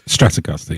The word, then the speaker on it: Stratocaster: It's Stratocaster, yeah, that's right.